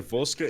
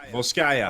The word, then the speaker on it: Volskaya: Oh, it looks like we're going to Volska Industries for the final and 7th match. Volska Industries, is that what you said? Volskaya.